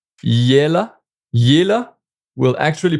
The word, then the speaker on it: il est là: And then if we replace with I est là, well, then it's become like yela.